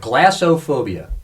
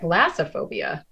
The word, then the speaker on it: glossophobia: It's called glossophobia. Glossophobia. Glosso phobia. Glossophobia. Spell it again. Glosso phobia. Glossophobia, or is that glassophobia? Glossophobia. I'm from Philadelphia, but yeah, it's glossophobia.